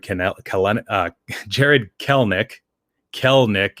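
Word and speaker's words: Kelenic: calen uh jared kellnick kel nick it's uh i think i was uh told that it's two syllables not three so it's not clinic it's kel nick and um and he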